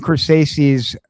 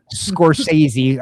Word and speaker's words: Scorsese: Scorsese, the S is silent.